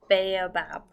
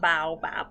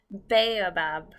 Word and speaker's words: baobab: it turns out that you pronounce that tree bay above not baobab like I said bay above my apologies the power